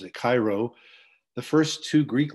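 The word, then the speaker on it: Chi Rho: ordered his army to paint crosses and letters Hiro or English they we pronounce it Cairo the first two Greek letters in the word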